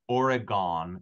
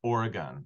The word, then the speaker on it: Oregon: to inform you that the state is not pronounced Oregon it's Oregon if you want to get along well with